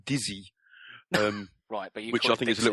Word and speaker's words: Dixit: playing for ages called Dixit all right well it's a French game so I think it should be pronounced dizzy Wright good shopping is